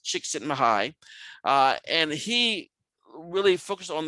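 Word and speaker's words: Csikszentmihalyi: mihaly chiksi mihai uh that's a really tough name but you can pronounce it chick sitting high and he really focus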